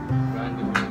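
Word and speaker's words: rendezvous: b o u s randevu randevu pronunciation niya randevu to an aoun ganon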